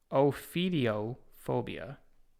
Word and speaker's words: ophidiophobia: This one is pronounced Ophidiophobia.